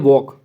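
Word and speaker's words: walk: अब यहाँ पर एक शब्द दिया उन्होंने वॉक, अब इसको हम पढ़ते हैं वॉक। अब इसमें जो एल है इस एल की साउंड नहीं आ रही है, तो इसमें जो ये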